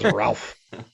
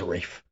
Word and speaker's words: Ralph: a character but he calls him ralph let's pronounce his name ralph which i know that's how it's spelled but the name is reef the thing that bothered me about this was